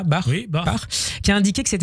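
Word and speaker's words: Bach: Comité international olympique Thomas bar on le prononce comme ça bar qui a indiqué que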